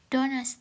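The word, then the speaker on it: Donnerstag: Oke, aku jelasin aja ya cara bacanya. Montak. Montak itu Senin, Dins itu Selasa. Mitwo itu Rabu, Dona itu Kamis, Friday itu Jumat, Samstag itu Sabtu, sontak itu Minggu.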